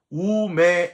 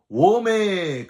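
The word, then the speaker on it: οὐ μή: 우메 에이셀세테 에이스텐 바실레이안톤 우라논이라고 발음을 하는데요. 앞에 우메가 워메 그게 아니고요.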